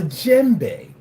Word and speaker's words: djembe: It's called a djembe. A djembe is spelled D-J-E-M-B-E.